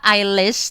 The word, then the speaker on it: Eilish: fans lokal, terutama karena nama dia tuh adalah Eilish, tapi kan tulisannya adalah EILIS. Elis tulisannya tuh Elis gitu. Kalau di Indonesia kan bacanya Elis, tapi kan Eilish sebenarnya ya.